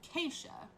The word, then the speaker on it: Kaishah: name it's pronounced keisha there you go if anybody you know